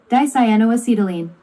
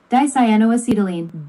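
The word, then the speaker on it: dicyanoacetylene: Dyano acetylene. Excuse me. How do you say that? Dyano acetylene.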